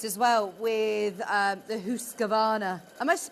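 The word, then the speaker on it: Husqvarna: more about this as well with um the hus gavana am I pronouncing this right it is yeah it's it's imagine it is an double O husana husana hus gavana machine in a bit because um this was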